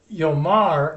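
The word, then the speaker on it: יאמר: Yomar, the accent's on the last syllable. Vayomer, the accent has moved back a syllable.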